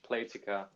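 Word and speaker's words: Playtika: yeah thanks mark um i think it's pronounced platika so so first off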